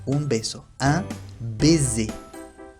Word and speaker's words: baiser: Ahora, si la S está situado entre dos vocales, su sonido cambia y se convierte en Z, Z. Por ejemplo, un baiser, un beso. Un baiser, baiser.